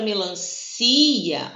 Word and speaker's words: melancia: Na palavra melancia, ó, a tonicidade, ela tá aqui no meio. Então, toda vez que a gente pronunciar mais forte, né, com a relação à sílaba tônica, no meio, é porque a gente tem hiato.